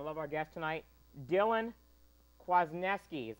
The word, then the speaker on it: Kwasniewski: you're going to love our guest tonight dylan kwasniewski is how he pronounces his name he'll be calling in just